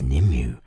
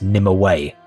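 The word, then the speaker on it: Nimue: the attacker it is nimmu the infamous unsealy sorceress okay i'll be honest that's the first time i've heard the name pronounced like that usually i hear it as nim away the struggle between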